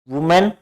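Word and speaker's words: women: अब एक देखो इसमें ध्यान दो, WMAN, वुमेन और वीमेन। जब ये सिंगुलर होता है तो वुमेन होता है, जब ये प्लूरल EN होता है तो इसका प्रोनाउंसिएशन क्या होता है, वीमेन होता है।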